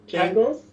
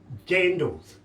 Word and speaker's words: jandals: Jangles? Jandals.